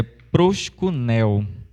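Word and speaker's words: προσκυνέω: A pronúncia é proskuneo, que significa prestar homenagem, curvar-se, adorar.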